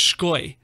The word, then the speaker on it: Sky: It is originally Latvian. Really? It was pronounced Shkoy.